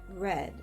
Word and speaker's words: read: homographs in a sentence we will use the example read spelled r-e-a-d read pronounced red means the past tense of reading read pronounce read means present tense of reading like is happening now here in this sentence